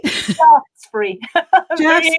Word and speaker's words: Shaftesbury: Shaftesbury.